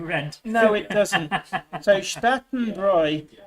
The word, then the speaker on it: Bräu: So Spartanbräu, if you write AU in German, is pronounced ow, unless there's an umlaut on the A, in which case it's like an oi sound.